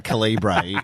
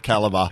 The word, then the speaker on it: caliber: I mean, I'm watching Andy host a fashion parade saying calibbra instead of caliber.